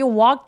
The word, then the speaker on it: walked: 자, 여기 walked 할 때 A하고 K 사이에 있는 요 L은 묵음이에요. 그래서 walked 아니고 walked라고 소리 내주시고 walk처럼 크 소리는 무성음이라고 하는데 성대가 울리지 않는 소리죠. 울리지 않는 요 소리로 끝났을 때 동사 원형에 ed가 붙으면 내 눈에 아무리 e가 보이더라고 하더라도 통째로 t로 발음을 합니다.